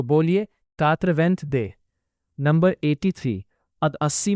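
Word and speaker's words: quatre-vingt-deux: इसीलिए 82 का फ्रेंच में प्रोनंसिएशन होगा कातवेंथ दे। तो बोलिए कात्रवेंथ दे।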